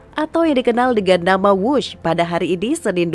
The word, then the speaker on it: Whoosh: operasi optimal sistem hebat sekali lagi w h o o s h tapi membacanya wus selain memiliki nama yang